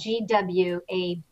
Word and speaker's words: Gwabbit: Well, another one that I like is Gwabbit, and it's spelled Gwabbit, like rabbit, but with a GW.